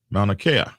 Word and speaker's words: Mauna Kea: there we go yep just like the mountain on hawaii oh that's how you say it mauna kea dude you should have